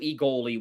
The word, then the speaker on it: Egoli: Egoli. I mean, I will say I sounds actually more accurate. But they say Egoli, don't I? Egoli. Egoli. Well, it's pronounced with a long E.